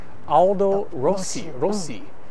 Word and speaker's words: Aldo Rossi: the architect, a very famous, well-known Italian architect, Aldo Rossi, I believe is how it's pronounced.